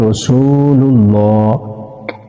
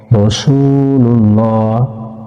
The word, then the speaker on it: রাসুলুল্লাহ: যাই লামে ধরছে এইযে আল্লাহ শব্দের ডাইনে জবর অথবা পেশ হলে এলাম পুর হবে মানে ল হবে উচ্চারণ লাম লাম পেশ